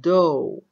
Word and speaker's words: dough: العجينة، طريقة عمل العجينة dough، how to make the dough. طيب دو يعني عجينة، ما ننطق حرف الجي والإتش.